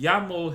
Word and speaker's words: YAML: Now this here is called the Llamo header, and this is how Llamo is spelled. AML. Okay, and this stands for yet another markup language. Okay, if you care. Okay, but this is called the YAML header.